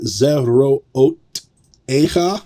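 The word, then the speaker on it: זְרֹעֹתֶיךָ: All right, number three, we've got zeroot echa. That's a long one. The accent is going to be on this echa. So zerootecha is going to be how you pronounce it.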